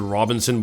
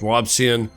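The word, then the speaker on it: Robison: I want to pronounce it Robinson, but it's not, it's Robson.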